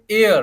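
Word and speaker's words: heir: थर्ड देखिए एयर, क्या पढ़ेंगे इसको, एयर, साथ बोलो मेरे, एयर। हेयर नहीं बोलेंगे इसको, एच साइलेंट हो जाएगा, ई आई आर, एयर।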